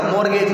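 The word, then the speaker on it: mortgage: मॉर्गेज, इसमें T silent है, मॉर्गेज करना होता है गिरवी रखना।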